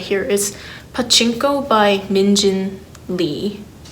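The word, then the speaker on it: Min Jin Lee: here, is Pachinko by Minjin Lee. I guess like the Korean name or pronunciation would be Lee Min-jin.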